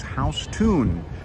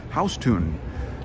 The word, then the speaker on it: Houston: after a guy who's actually last name was house tune house tune he was a southern dude who actually came